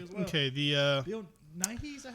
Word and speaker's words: Nighy: Okay, the Bill Nighy, is that how you say it?